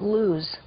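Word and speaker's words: Lawz: Uh laws, they actually pronounce it lose and it's also pronounced lose in Hebrew and it means the nut tree or specifically the almond.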